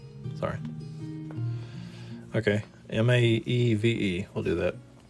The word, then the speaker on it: Maeve: Okay, M-A-E-V-E. We'll do that. Not exactly sure how to say that, so I will refrain from making it terrible. But M-A-E-V-E would be M-A, silent E, most likely.